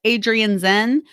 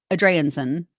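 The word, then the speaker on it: Adrianzén: said her name right it's more spelled like adrian zen but i think it's spelled said adriansen a draensen okay so let me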